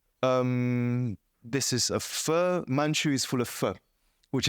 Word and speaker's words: Manju: so ch that's why in English you say manchu it's actually not manchu it's manchu but English doesn't have j so they currently write a j o um this phone